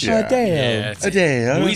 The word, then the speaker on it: Adele: than usual because apparently we've been saying Adele's name wrong, and Adele said it. You actually say it, Adele. Like hey, well, I feel like we're going to go see that Adele concert. it's sounding more, country, but when she says it, obviously it sounds more British.